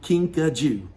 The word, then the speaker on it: kinkajou: Okay, now Pikachu is what's called a kinkajou. Now, kinkajou, that's kind of a funny word that most people are not used to, right? So, kinkajou is spelled Kinkajou, kinkajou.